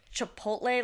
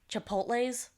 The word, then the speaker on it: Chipotle: It's kind of like how our mom pronounces Chipotle. Like Chipotles. She has an S to a lot of things.